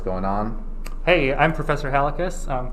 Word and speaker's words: Halekas: on hey i'm professor halicus um congratulations you pronounced both my first and last name correctly which no one ever does oh i'm flattered it's